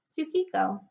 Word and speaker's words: Tsukiko: characters mean but that when you pronounce it in Japanese it is simply pronounced Tsukiko okay so this is